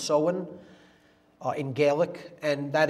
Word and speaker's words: Samhain: it looks like samhain in english but it's pronounced so in uh in gaelic and that is halloween or